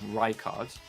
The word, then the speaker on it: Rykard: I think you keep calling him Rickard because you know someone called Rickard. Oh, that's true. Yeah, maybe I am. Yeah, so they pronounce it with a high Y, Rykard.